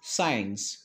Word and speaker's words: science: words for example sent the second letter c is absolutely silent science it's not science it is science next descent sea silent